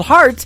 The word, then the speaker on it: Hart: on her last name and that is called heart in two places yeah I just like your heart that how that's spelled and uh she is actually formerly from